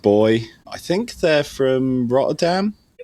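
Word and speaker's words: BOI: B O I think it's pronounced boy.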